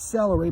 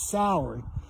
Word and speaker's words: Salary: Yeah, I pronounced that right. It's not celery, but it sounds like it. It's Salary.